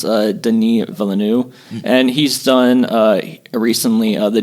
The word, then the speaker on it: Denis Villeneuve: the director, I believe it's pronounced Denis Villeneuve.